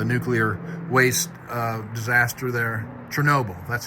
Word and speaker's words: Chernobyl: in Russia the nuclear waste uh disaster there Chernobyl that's how you say it it wasn't like